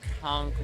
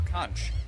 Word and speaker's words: conch: Is it conchk or kunch? Conch. Conchk. Kunk. No, conchk. He said it right. You said it right. I was wrong.